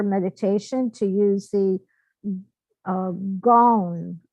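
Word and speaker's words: Gyan: to use the uh Gone mudra I believe that's how you say it it's spelled g-y-a-n and I'll show you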